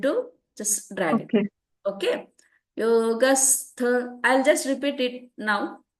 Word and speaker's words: योगस्थ: Here yoga stha, you should say yoga stha kuru karmani. You need to just drag it. Okay. Yogastha.